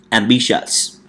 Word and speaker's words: ambitious: now repeat after me ambitious right we have m b shots ambitions so we stress on the second syllable which trash on the second syllable so we say ambitious and the next one